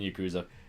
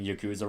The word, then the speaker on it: yakuza: evil that was fun you're pronouncing yakuza wrong i know technically it's yakuza but it's like we're not gay i'm not gonna try okay they haven't earned my respect okay i'm not gonna try to do the original pronunciation because it sounds stupid in english yeah sometimes they'll say